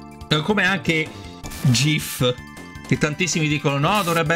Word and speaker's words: GIF: dicono No dovrebbe essere gif invece lo stesso invece lo stesso autore proprio creatore della del formato gif ha confermato che si pronuncia G cioè con la G morbida perché tecnicamente sarebbe Grass